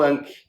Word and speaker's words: Ankh: O egípcio fala do Ka, do Ba e do Ankh, ou Ak, também pode ser grafado sem o N. E quando você pronuncia esse KH, é uma pronúncia gutural. Então é Ah. É assim que é pronunciado.